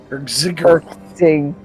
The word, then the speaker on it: Hrxyg'giroth: Am I pronouncing it? Hrxyg'giroth. Hrxyg'giroth.